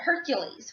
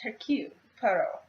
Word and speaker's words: Hercule Poirot: They pronounce it Hercules, which it's similar, but it's the French pronunciation of it. It's Hercule Poirot, which is still, it